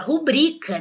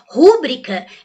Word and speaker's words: rubrica: exemplo przód você fala e rúbrica ou rubrica Ah você fala rubrica né rúbrica Nós não temos não rúbrica é um erro prosódico é um erro de pronúncia Popular então é importante